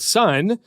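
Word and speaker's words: Sunn O))): There's a metal band called Sun that's like basically a drone band. It looks like Sun O, but you don't pronounce the O.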